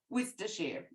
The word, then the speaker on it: Worcestershire: currently forgive my accent Worcestershire if this year bye beautiful Larissa oh Scalia hello freezing UK it's actually um oh it's like the sauce Worcestershire got it Sally Ann it's